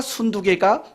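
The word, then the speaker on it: 순두게: 발음을 잘 하셔야 돼요. 순두개입니까? 순두부입니까? 순두개. 유오디아와 순두개가 빌립보 교회를 이끌었던 여성 지도자 두 사람이었다고요.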